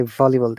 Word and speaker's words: volleyball: you pronounce b v remember when you're pronouncing b the small b for bravo our lips are touching each other b but when you're saying v our lips are not touching that air is going out okay so remember to